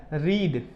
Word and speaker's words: read: पढ़ें, नहीं पढ़ सकते, क्योंकि सेकंड फॉर्म में इसका प्रोनाउंसिएशन क्या हो जाता है, रेड हो जाता है।